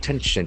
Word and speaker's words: tension: Tension, Tension. Tension. As we know, ending must be nouns and the accent falls on the first syllable.